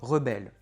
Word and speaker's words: rebel: Le mot "rebel", quand c'est un nom, on dit "a rebel", nom, accent sur la première, "a rebel". Mais si vous voulez parler du verbe se rebeller, vous allez dire "to rebel", "to rebel", verbe, accent sur la deuxième.